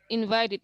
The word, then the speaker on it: invited: All verbs ending with the sound t, when they take ed, it's going to be pronounced like id.